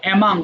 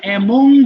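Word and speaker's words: among: আচ্ছা দেখো, ভালো করে বুঝো, বিটুইন এবং অ্যামাং, যদিও এটাকে আমরা অ্যামং বলি, অ্যামং হচ্ছে রং প্রোনাউন্সিয়েশন, শুদ্ধ হবে অ্যামাং।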